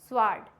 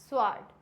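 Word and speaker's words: sword: silent कब होता है एस के बाद डब्लू साइलेंट होता है एस होगा और जस्ट बाद में अगर डब्लू आ रहा है इट मींस यहां पे डब्लू हो जाएगा silent for example answer स्वर्ड क्या हो जाएगा आंसर स्वर्ड अंसवर नहीं होता है ये इट मींस आंसर क्लियर हो गया नेक्स्ट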